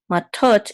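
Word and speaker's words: מטות: mem with a um and then this is a tet um and makes a t sound and then the valve of the dot over it says o so this is and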